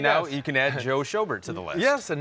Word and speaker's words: Schobert: Joe Schobert.